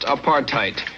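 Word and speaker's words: apartheid: In the Dutch or Africans language of South Africa, there is a word pronounced apartheite, which simply means a policy to keep people of different races apart.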